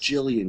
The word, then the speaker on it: Gillian: Whose real name should have been pronounced Jillian, which is a girl's name who I didn't even know at the time, And what is this character?